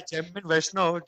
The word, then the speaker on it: Jaimine Vaishnav: by this moniker Jaimine, or am I pronouncing it? No, no, I go by Jamin Vaishnav.